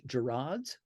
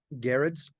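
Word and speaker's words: Gerads: And let's make sure I'm pronouncing his last name correctly. Mitch Gerards? Garrett's.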